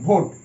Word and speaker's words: vote: ঠিক একই রকম ভোট, VOTE ভোট, এখানে শেষে ই আছে, ই সাইলেন্ট আছে, এবং সামনের ও এর উচ্চারণ ও এর মতো হচ্ছে, ভোট।